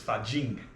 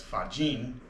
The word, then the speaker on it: Fa Jin: early 2000s, it was referred to as Fa Jin, with pronouncing the G, but apparently, if this was a mistake, it's actually known as Fa Jin, although sometimes it's spelled with the G.